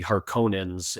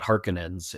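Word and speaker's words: Harkonnens: And you know, the David Lynch movie has the "Hark-cone-ans" and the other versions call it "Hark-a-nins."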